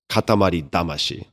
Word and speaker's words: Katamari Damacy: in English actually, but Katamari Damacy in English, but in Japanese, it's Katamari Damashii, which literally means clump spirit.